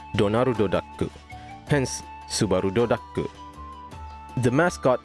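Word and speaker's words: ドナルドダック: Since the character's inspiration was Disney's Donald Duck, which is in Japanese pronounced as Donaru Daku, hence Subaru Daku.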